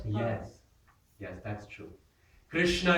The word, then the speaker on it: Krishna: Krishna is another hard word to pronounce. And some we discussed it yesterday. Krishna is the most widely changed word in all of our scriptures. People say Kitta, Kinna, Kanna, right? So many. South India, Kanna is also there.